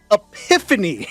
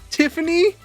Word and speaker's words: Epiphany: Yeah, and I was like, her name's Epiphany, not Tiffany.